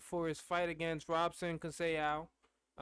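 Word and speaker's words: Conceição: against robson cassell uh i think i'm almost positive that's how you say his name uh i've heard people say his name different ways but i'm just saying say ow that seems like what it is um and it's not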